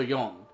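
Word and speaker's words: よん: It is she, but it's also yon. So it has two pronunciations.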